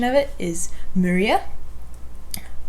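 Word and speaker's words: Muria: messed it up last time but the proper pronunciation of it is maria but you can call it maria moriah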